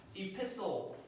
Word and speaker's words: epistle: Epistle. Don't say epistle. Epistle. The T is silent.